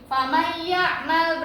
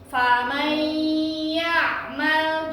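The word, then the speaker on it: فمن يعمل: Bacanya bener nggak kayak gini? Famay ya'mal, bener nggak? Salah. Yang bener harus gimana? Nah, iya harus ada gunnahnya 2 harokat. Jadi lama di sininya. Famay ya'mal gimana?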